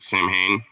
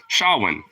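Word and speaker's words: Samhain: short for Solomon, and I pronounced it Sam Hain. You went the white American route, and you were like, Sam Hain, right? Not exactly. Shawin. I think the actual pronunciation is like Shawin or something like that.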